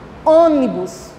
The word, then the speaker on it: ônibus: Olha a pronúncia, o puxado. Cômodo. Chega, pesa o nariz, né? Cômodo. Cômodo. Ônibus.